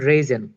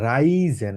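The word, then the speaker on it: reisen: সিন্ড cricket villain on রেজেন এটাকে বলবো হচ্ছে আমরা রাইজেন কারণ আর এর পরে ই আছে আছে রাই হবে রাইজেন আর ই আই তো হবে কি আর এ ই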